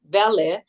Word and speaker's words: Welle: So it's and the translation in German, it's Welle, but we pronounce it well in the Italian, in the English, of course, pronunciation.